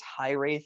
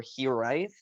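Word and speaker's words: hiraeth: you pronounce it um there's two pronunciations that i've heard there's high wraith or he write um it's spelled h-i-r-a-e-t-h it is a welsh word and it basically means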